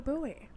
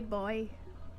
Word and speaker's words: buoy: Based off that information, Andy has a boat with red and blue buoy. Do you want me to say boy? Am I really upsetting people for correctly pronouncing the word?